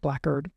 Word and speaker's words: blackguard: Blackguard is blackguard in the same way that like jailer was spelled Goaler.